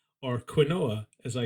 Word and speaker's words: quinoa: Yeah, this is like I know enough about couscous now as in the same way that I now know enough about quinoa or quinoa, as I called it very frequently when I had no idea how to pronounce it.